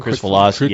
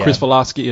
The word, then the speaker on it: Kricfalusi: Chris Filosky. Chris Filosky, or John K.